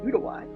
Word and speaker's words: Uruguay: It's from Uruguay or pronounced appropriately Uruguay.